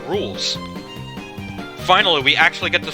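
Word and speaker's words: Rouxls: between bob after bach it's pronounced rules finally we actually get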